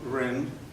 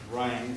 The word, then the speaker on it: Rind: you heard all right my name is rind some people pronounce it ryan they do correct it